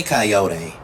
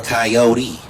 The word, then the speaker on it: Kayode: So if you say Kayode or Kayode, I'm going to respond because they still fit part of me.